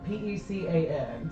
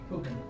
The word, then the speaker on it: pecan: P-E-C-A-N. So we've got like, Pukin.